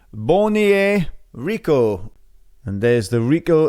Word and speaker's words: Beaugnier: Because I struggled for a little while until I did my research and I heard that it's pronounced Beaugnier. Beaugnier Rico.